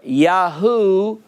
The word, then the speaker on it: Yahu: me make this clear when yode when yod hey or yod hey vav occur in a name it's pronounced yah or yahoo at the end at the end of a word not one example that i know of where that pronunciation occurs at the beginning so when yod and